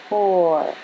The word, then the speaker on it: core: Together, these letters say or. The E is silent. Its job is to make the O say its name. Add a C and it says k, or, core, core. Add L and it says o, or, lore, lore.